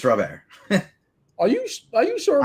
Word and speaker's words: Robert: me tell me it's louise robert and not rob air no it's not it's robert are you are you sure i'm not a